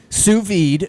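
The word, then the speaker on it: sous vide: Let me just basically say suvi. Mhm. That's how it's pronounced.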